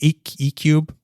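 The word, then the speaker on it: Equb: One was called, again, now I'm never going to pronounce this right, ECUB, E-Q-U-B, E-Cube. Okay. Let's say E-Cube.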